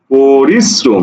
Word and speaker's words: পরিশ্রম: এটার উচ্চারণ কি হবে এটার উচ্চারণ হবে এরকম পরিস শ্রোম পরিশ্রম দেখো এই যে র ফালাটা যে বর্ণের সাথে ছিল সেই বর্ণটাকে দুইবার উচ্চারণ করাইলো অর্থাৎ দীপ্ত করলো এখানে দেখো দন্তস মানে স দুইবার আসছে পাশাপাশি র নিজে উচ্চারণ হইছে অর্থাৎ অর্থাৎ তোমাকে পার্থক্যটা